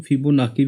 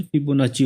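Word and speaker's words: Fibonacci: मैंने आपको बताया था इसको कभी कभी हम लोग फिबोनाकी भी प्रोनाउंस करते हैं, लेकिन इसकी एक्चुअल प्रोनाउंसिएशन फिबोनाची होती है। लेकिन हमारे मुंह पे फिबोनाकी ही चढ़ा हुआ है।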